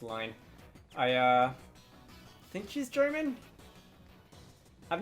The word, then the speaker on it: Line: For a while, I would, like, pronounce it whenever I said it out loud or even in my head, Line. Don't ask why, but I did get confirmation that it is supposed to be pronounced Line.